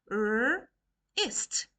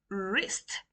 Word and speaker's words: wrist: Wrist. Wrist. The W is silent.